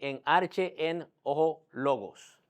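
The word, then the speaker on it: Ἐν ἀρχῇ ἦν ὁ λόγος: Bueno, esto es algo parecido también se escribe así, pero se dice en arche en ojo logos. Entonces, eso es como se pronuncia lo que significa la traducción es en el principio era el verbo.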